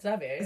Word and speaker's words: Xavier: So Xavier, is that how you pronounce it? Xavier.